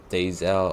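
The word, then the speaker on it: Deyzel: max Taylor uh Noel dezel or how do you say his last name is daisal oh yeah yeah yeah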